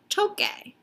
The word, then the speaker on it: toque: want it to say toque. We know that. But if we were to spell it like this, that says tose. In order to preserve the sound, we add a Q.